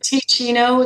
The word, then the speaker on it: Teccino: I recommend Ticino. It's spelled Teccino.